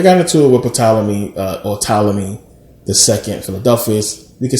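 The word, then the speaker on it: Ptolemy: story but they got into Witham uh or talami thei Philadelphia we can say tmy I say Talam it's just a thing but it's pronounced talmy but um they got into a war and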